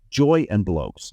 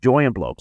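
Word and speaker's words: Joi + Blokes: Joy and Blokes. That's spelled J-O-I and Blokes, B-L-O-K-E-S, just like it sounds. Joy and Blokes.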